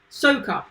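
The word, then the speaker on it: Soucoup: Trying to hear him say it because I always get his surname wrong. Sokop, that's it.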